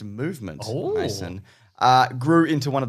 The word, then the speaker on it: MVMT: MVMT, pronounced movement, Mason, grew into one of the fastest growing watch brands, shipping to over 160 countries across the globe.